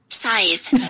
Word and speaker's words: Scythe: Because I can never pronounce it right. It's Scythe.